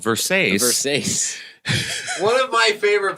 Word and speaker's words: Versace: Kyle MacLachlan, his character is such a dick for pointing out that it is actually pronounced Versace. Yeah.